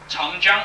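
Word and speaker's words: Chang Jiang: commonly used as the tong jung in china chun jung c-h-a-n-g j-i-a-n-g could you follow me c-h-a-n-g that's a c-h it can pronounce like um yes okay when you talk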